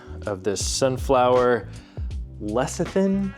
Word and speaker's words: lecithin: G of this sunflower leian I think is how I pronounced it I was calling it lectin I think my bad yeah it's a very